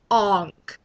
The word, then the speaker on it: Aang: circumstances possible seat okay they pronounced Aang's name onk now I heard from my friend Chelsea that they were trying to stick with more of like the original thing you know um the you know whatever the Asian way of pronunciation and I guess that